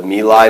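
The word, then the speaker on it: My Lai: should know is the my life the me Lai Massacre I've heard it pronounced both ways but I think it's the my massacre in 1970 and y l a i two words Massacre um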